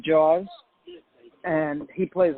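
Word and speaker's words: Jauz: and it's great i i like jowls which is he pronounces it jaws and he plays like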